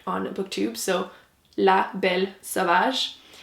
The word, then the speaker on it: La Belle Sauvage: Anyway, the volume 1 is called La Belle Sauvage. I thought I would mention it because I'm sure it's going to be butchered on BookTube, so La Belle Sauvage.